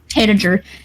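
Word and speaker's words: tanager: Tager. T A N A G E R. It's like tan from a tree.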